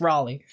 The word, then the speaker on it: Raleigh: video where armored skeptic keeps pronouncing it ra but it's Raleigh uh to attempt to